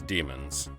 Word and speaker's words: Dæmon: however they want but the ash tree ligature AAE combined is generally pronounced as an e it always has been and the ancient word demon was spelled d ash tree mo n demon just like archaeologist is